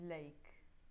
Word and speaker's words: ليك: This one also comes more like standard Arabic, which is إليك, or let me write it with Roman letters, إليك, but we pronounce it in Lebanese ليك, to you.